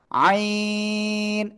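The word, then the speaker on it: ع: এক আলিফ ঠিক আছে আইন নুবা এদিক তো ওদিক তাকানো যাবে না আমার দিকে তাকাতে হবে আইন এরকম না জিহ্বা বের করতেছেন কেন মিশকা আইন আইন চার আলিফ টেনে উচ্চারণ করতে হবে সবাই জোরে জোরে বলেন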